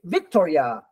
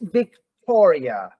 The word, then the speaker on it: Victoria: When I say Victoria, the stress is on tall. You don't say Victoria, okay? It's Victoria.